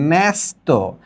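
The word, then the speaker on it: ন্যস্ত: অর্থাৎ এই জ এর জায়গায় এখানে ব্যাথা ব্যথা এ এর মত একটা আওয়াজ করেছে এখানে ন এর পরে জ উচ্চারিত না হয়ে এ এর মত উচ্চারিত হচ্ছে ন্যাস্ত এখানে ব এর পরে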